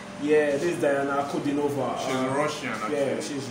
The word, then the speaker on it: Ankudinova: Can you pronounce the last name, please? This is Diana Ankudinova. Yeah, this is Diana Ankudinova.